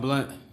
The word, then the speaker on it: Blount: Blunt. Blunt? Yes, ma'am. Is that how you pronounce it?